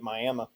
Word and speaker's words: Miami: a joke there's a there's a Miami in Texas too but they pronounce it Miami okay uh check